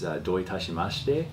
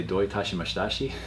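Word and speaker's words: どういたしまして: It's doi tashimashite, but he would always say doi tashimashitashi.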